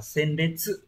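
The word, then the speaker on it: 鮮烈: Các từ còn lại, ví dụ từ đầu tiên, chữ Hán là chữ tiên và chữ liệt, đọc là senbetsu.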